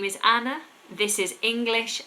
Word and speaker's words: Anna: a an N A Anna that's how you spell it and you pronounce it Anna Anna I have many lessons